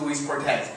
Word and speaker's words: Luis Cortes: back home now uh here i think that's how i pronounce it i pronounce the louise cortez now if i were uh i just like within my friends that come in luis back home in mexico city where i'm from they call me because that's my